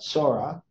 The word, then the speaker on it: Zorah: okay now um now when it when we deal with Ash to all so we got Sora it's actually how it's pronounced and then we have Ash to all 800 847.